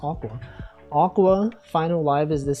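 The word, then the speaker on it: Aqours: Aqua, see, that's how I know it's pronounced Aqua.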